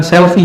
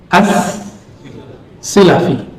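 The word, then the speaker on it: as-Silafi: Bacanya bukan selfie ya. Abu Thahir Ahmad bin Muhammad bin Ibrahim Asselfi bukan. Bacanya apa? Asi asilafi bukan asalafi as silafi ini seperti Syekh Yasin di zamannya semua riwayat ada di tangannya ya.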